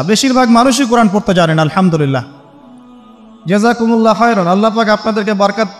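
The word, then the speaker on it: الحمد لله: আপনি পড়ছেন আল্লাহু আকবার আলহামদুলিল্লাহি রাব্বিল আলামিন এইতো আপনি পড়ছেন আলহামদুলিল্লাহ শব্দটা কি আলহামদুলিল্লাহ এই হা এর মাখরাজ কোথায় হা এর মাখরাজ কোথায় বলেন একজন কণ্ঠনালীর মাঝখান থেকে এখান থেকে আপনি উচ্চারণ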